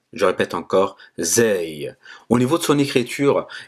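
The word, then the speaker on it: زاي: En fait, c'est comme le Z en français. Il n'est pas très élevé, n'est pas emphatique. En fait, c'est un Z simple. Ça fait Zay. Je répète encore, Zay.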